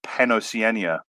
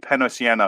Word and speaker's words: PanOceania: say it um I I've always been a believer in the Big Brother pania pronunciation um though I've I've heard penos sien from time to time um but I I it just doesn't feel right so this is going